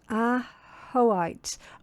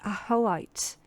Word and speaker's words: ajoite: Uh ajoite pronounced ah-ho-ite. Oh, okay. Ah-ho-ite. That doesn't look like it, does it? But yeah, apparently ah-ho-ite.